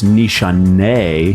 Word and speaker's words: Nishane: Actually, it's Nishane, Yeah.